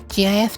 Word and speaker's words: GIF: so obviously G yes I pronounce it g as well GIF to be precise precise